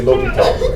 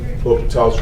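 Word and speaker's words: L'Hôpital: I just kind of butcher and say L'Hopital. It's not as good as. The H But sound. he pronounced it like I pronounce.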